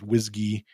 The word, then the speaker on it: WSGI: the sort of wsgi which sometimes is pronounced whiskey web server gateway interface